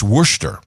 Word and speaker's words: Worcester: It's Worcester. Worcester. She has a pronunciation guide.